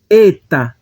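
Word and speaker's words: ἦτα: Eta maiúsculo e eta minúsculo.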